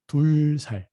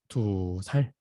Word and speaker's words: 두 살: Actually, the real pronunciation is gonna be 둘살 because 2 is 둘. But we're using some changing form. So what is gonna be? 두 살, 두 살.